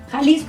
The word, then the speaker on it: Jalisco: okay and it's as you said it right kalisco is the number one that's why the most